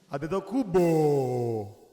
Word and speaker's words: Antetokounmpo: Antetokounmpo.